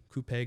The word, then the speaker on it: coupe: Today we're drinking out of coupe glasses. I call them Max. Please say it right. Coupe.